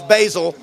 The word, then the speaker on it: Basil: And then, of course, my phone started blowing up, and I understood that my new name is not Basil, it's Basil.